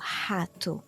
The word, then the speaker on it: rato: When the R is at the beginning of a word, then it's pronounced as like the very similar to the H sound in English, like hospital. So, for example, rato is rat, or roupa